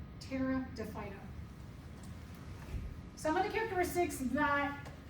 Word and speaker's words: Pteridophyta: The P is silent. Pteridophyta.